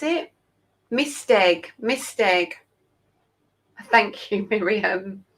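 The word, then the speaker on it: Maesteg: How do I pronounce it? Misteg. Thank you, Miriam. Misteg is in Wales.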